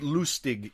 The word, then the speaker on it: Lustig: the lustiger mystique you I think he pronounces Lustig muster but loose TIG is how you would say in German yeah Christie Christie I